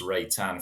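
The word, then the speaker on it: Reitan: Yeah, we've gone for Christopher Ray Tan. It's R E I T-n if anyone wants to look it up but pronounced Ray Tan for what I'm reliably informed but he has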